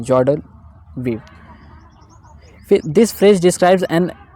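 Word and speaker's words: joie de vivre: जैसे देखो यहाँ पे क्या है, जॉय डी वीव, देखो इसको हम क्या पढ़ेंगे, जॉर्ड वीव, क्या पढ़ेंगे, जॉर्ड वीव, इसका प्रोनाउंसिएशन जॉर्ड वीव। क्लियर। तो जॉर्ड वीव, यहाँ विवरे आपको लग रहा होगा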